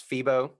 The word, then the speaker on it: Pheebo: And everyone can check out your app, of course, on the App Store as Pheebo. Yes, it's spelled Pheebo, like That's Pheebo right.